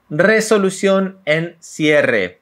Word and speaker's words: resolución en cierre: Resolución en cierre. If you notice, in Argentina we pronounce a lot the R.